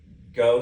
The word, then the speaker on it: Gogh: Well, but Go spelled like Van Gogh, G-O-G-H.